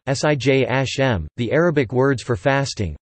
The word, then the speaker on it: Siyam: Arabic pronunciation: Swem) or Siyam (Siyam Arabic pronunciation: Sijm), the Arabic words for